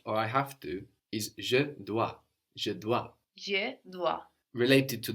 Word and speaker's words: dois: from je dois and this is spelt the OIS do I so we end in an S but we don't hear it dois the word fourth thing